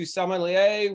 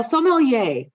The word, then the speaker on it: sommelier: experience from military to salmonella with a passion for marketing and i got to ask you did i pronounce it right uh sommelier actually so you're close really close all right as you